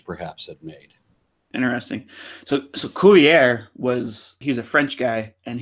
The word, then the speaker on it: Cuvier: So Cuvier he's a French guy, and he was doing, I'm saying his name wrong because he's French, Cuvier.